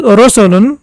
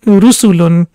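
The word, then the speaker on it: رُسُل: Rusulun. Rusulun. It shouldn't be pronounced as Rosulun because it's Ru sound. So it's basically Dhamma. So it will be Rusulun.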